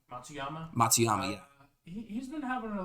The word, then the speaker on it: Matsuyama: Matsuyama.